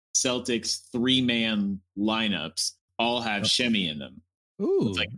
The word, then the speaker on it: Semi: I believe it's pronounced Shemi Ojale. Yeah. Okay. Wow. I've been calling him Semi for a long time.